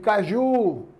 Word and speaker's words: caju: Então, quando eu digo caju, cajá, tá certo? São palavras oxítonas. Por quê? Porque a sílaba mais forte é a última.